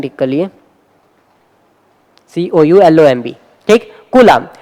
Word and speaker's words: coulomb: ये स्पेलिंग ठीक कर लिए, COULOMB, ठीक, कूलाम।